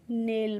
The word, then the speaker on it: nail: तो देखो NAIL है तो N से ना बनता है, और AI को A पढ़ लिया और L से हो गया ल, तो इसको हम नेल पढ़ेंगे।